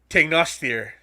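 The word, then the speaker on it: Tanngnjóstr: two giant goats uh let's see if i can get my norwegian pronunciations on here they're a little bit harder than malnour to say uh tengrisner and tegnostir uh basically teeth nasher and teeth grinder is what their names are in well in norway that's close the norwegian pronunciations the close i can come the icelandic pronunciation i can't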